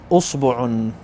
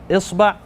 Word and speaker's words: إصبع: all of those different ways of pronouncing it. So you can't really get this wrong. هذا أصبع or finger. هذا أصبع or إصبع. Either one is correct.